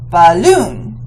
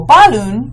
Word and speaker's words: balloon: Or is it balloon? And you can say, okay, well, balloon is not right. Balloon is right. So we know that we're stressing the second syllable.